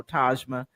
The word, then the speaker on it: Tajma: the heads up on how to pronounce it but because I just love your name you know tajma and of course you know she said you know it's like Taj Mahal yeah and so but